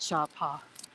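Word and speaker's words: Sapa: So I'm gonna start calling it Shapa now that I know how you're supposed to pronounce it.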